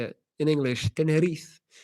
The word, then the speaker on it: Tenerife: Tenerife.